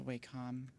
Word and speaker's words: Wacom: Oh, there's the Wacom. Or what is it? Wacom? Wacom? How do people pronounce this?